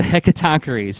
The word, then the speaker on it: Hecatoncheires: instance uh help me out with the the pronunciation of these guys the the hundred-handed uh the heck of tonkaris the hecatoncheires thank you i tried looking a great word